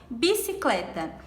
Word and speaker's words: bicicleta: Bicicleta. Bicicleta. O clé é a sílaba mais forte.